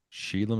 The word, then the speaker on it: Shelagh: You ever heard of Sheila McDonald? Sheila McDonald. No. And that's spelled a very Scottish way, Shelagh.